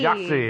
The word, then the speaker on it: YOGTZE: So this is a case that's called YOGTZE Fall, and let me spell that out: YOGTZE. Yahtzee! YOGTZE, exactly. I know. It kind of reminds you of that.